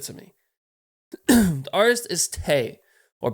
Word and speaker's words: te': And again, so I'd have to do the calculations. I believe you have 10 album reactions left to request. So I'll be emailing you after this. Anyways, welcome to Tay, or T. It's pronounced T.